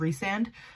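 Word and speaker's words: Rhysand: because i did notice that i i said rice and instead of re-sand apparently that's how you pronounce his name is resand but for the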